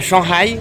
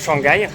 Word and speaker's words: Shanghai: C'est un peu la dernière journée de mon côté ici en Chine à Shanghai, je crois il prononce comme ça au lieu de Shanghaiï.